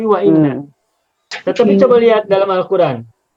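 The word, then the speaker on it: وإن: Tak boleh baca wanna, tapi wa inna.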